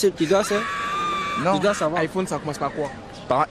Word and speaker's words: iPhone: c'est en anglais le le i en anglais se prononce a c'est tout à fait normal je sais pas si je dois dire aucun d'ux n'avait tort logiquement aucun d'ux n'avait tort celui qui prononcit exactement il il était bien conscient parce que l'écriture l'orographe de de l'iPhone c'est avec un i mais en anglais vu que c'est un mot anglophone on le prononce a iPhone mais celui qui qui